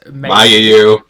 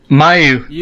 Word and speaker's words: Mayu: I my oosi is May because Mayu that's fine Australian you can't even say her name right May whatever Mayon and